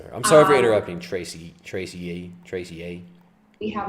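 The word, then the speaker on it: Tracye: great way of spelling tracy it's spelled t-r-a-c-y-e tracy get it it's like tracy but spelled trace ye trace tracey lynn mcquarter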